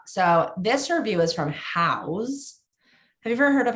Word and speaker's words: Houzz: change it up so this review is from house have you ever heard of how Trey I I have spell it it's spelled eight h o u z